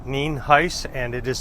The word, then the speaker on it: Nienhuis: It's pronounced Nienhuis, and it is spelled Nienhuis.